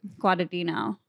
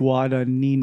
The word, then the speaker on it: Guadagnino: Guadagnino. Guadagnino. Oh, it's like Finding Nino. Finding Nino. Think about that. And Guada. Guada Finding Nino. Guadagnino. You know what? It's really that extra syllable that they snuck in there.